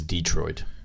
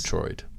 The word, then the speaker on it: Detroit: He says Detroit. It takes I say place. Detroit. Detroit. Okay. It's all about the emphasis on the correct syllable.